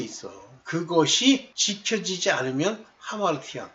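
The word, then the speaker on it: ἁμαρτία: 저 전는 옛날에 아마르티안이라고 많이 읽었는데 하마르티안이에요.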